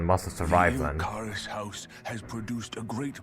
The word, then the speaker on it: Ilkaris: Ilkaris, that's how it's pronounced, okay. I believed he was on Dana. I thought it's Ilquaris. It's like Spanish or something.